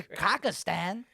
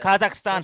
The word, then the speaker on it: Kazakhstan: where we're going to kakistan or sorry no disrespect no disrespect kakan Kazakhstan say it right M Kazakhstan no disrespect I think